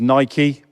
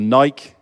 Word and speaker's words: Nike: Number 5 is Nike or Nike, depending on how you want to pronounce it.